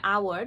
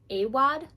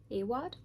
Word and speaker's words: Awad: So, I am about to start reading Bunny by Mona Award. I think that's how you say it. Awad. Awad.